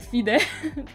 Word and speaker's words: FIDE: you know how do you pronounce fide we pronounce it fide see that you said your blunder and then